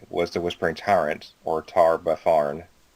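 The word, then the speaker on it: Tar-Baphon: the whispering Tyrant or tar baar that's how it's pronounced do we know him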